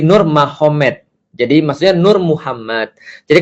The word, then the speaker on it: Nurmagomedov: Jadi tulisnya Magomed, tapi bacanya Mahomet. Kan gitu kan ya. Jadi Nur Magomedov itu jadi Nur Mahomet.